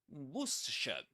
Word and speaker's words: Worcestershire: This is not Worcestershire or something like that. This is Worcestershire. Worcestershire. 3 syllables. And you can pretend it's spelled like this. Worcestershire. Worcestershire. And the accented syllable is the first one.